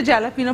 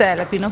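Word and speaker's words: jalapeño: अच्छा लोग इसे जैलापिनो पढ़ रहे थे, जे is silent, so इट्स एलापिनो poppers.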